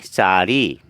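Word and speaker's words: চাৰি: ये असमिया में इसको चार, संख्या कुछ इस तरह लिखते हैं चार, और इसको हम उच्चारण करेंगे चारी, चारी। असमिया में कहेंगे सारी।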